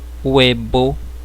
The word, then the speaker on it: huevo: Huevo, que significa ovo.